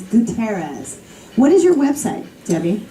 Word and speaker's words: Gutierrez: that's fine Debbie gas I always want to say Gutierrez but it's gutterz what is your website